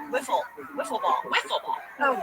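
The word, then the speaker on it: Wiffle: what I'm talking about I said it's not wle ball it's so spelled with an i w i how often are you writing W Whiffle whiffle ball whiffle ball oh good God okay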